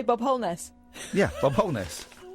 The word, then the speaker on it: Holness: Are you going to say Bob Holness? Yeah, Bob Holness. Is it wholeness? Wholeness. Wholeness. Wholeness. Wholeness. Wholeness. Why are you saying wholeness? Because that's how you pronounce it, Bob Wholeness.